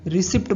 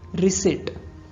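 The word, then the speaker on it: receipt: next word है रशीद जिसको हम रिसीप्ट बोलते हैं पर यह रिसिप्ट नहीं होता है इसके स्पेलिंग में जो पी है वह साइलेंट रहता है सो उसका सही प्रोनंसिएशन होगा रिसेट रिसेट next word coupon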